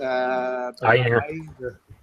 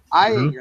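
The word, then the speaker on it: Ayinger: The one I had yesterday was the I can't pronounce the one that starts with AY. It's Eyinger. Eyinger, that's the one.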